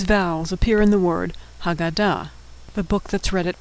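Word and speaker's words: הגדה: The hey at the end is silent.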